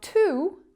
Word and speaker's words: to: So when to is unstressed, what do you think it sounds like? You're right, we need that schwa sound. T. Very relaxed, very easygoing sound. T.